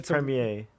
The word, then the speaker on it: premiere: It's It's a premiere. word that I have to Premiere. Premiere. primate. No, it's pronounced Premiere.